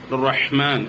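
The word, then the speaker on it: رحمن: റഹ്മാൻ റഹ്മാൻ ഹ എന്ന ഉച്ചാരണം വളരെ കൃത്യമായി ഉച്ചരിക്കണം. പല ആളുകളും ഹ എന്ന് പറയാൻ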